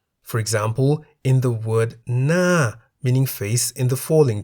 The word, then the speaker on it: หน้า: second consonant No Nu, but it is the first consonant Ho Heb which determines the tone even as Ho Heb is silent in this case. As Ho Heb is a high-class consonant, the word Na, meaning face, is in the falling tone.